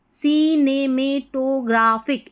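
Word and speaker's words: cinematographic: टी ओ टी ओ को टू नहीं टो पढ़ना है टो क्या पढ़ेंगे टो ग्रा जी आर ए को पढ़ना है ग्राफ एच आई सी को फिक पढ़ते हैं ठीक है फिक तो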